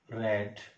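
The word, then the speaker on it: read: रीड means पढ़ना, रीड रेड रेड। देखो यहां पर क्या है, जो रीड है ना, तीनों फॉर्म की स्पेलिंग सेम है, लेकिन फर्क कहां है, इसको बोलेंगे रीड, फर्स्ट फॉर्म को बोलेंगे रीड, सेकंड को बोलेंगे रेड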